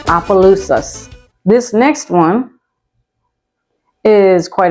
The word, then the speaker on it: Opelousas: It's spelled, and it is pronounced Opelousas.